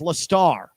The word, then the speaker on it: Lester: His senior year, he said, no, it's Lestar.